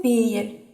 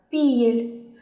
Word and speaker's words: пель: только особенностями произношения например в литературном языке есть слово пель нож в некоторых диалектах эрзянского языка произносится как пиель в литературном умбра щавель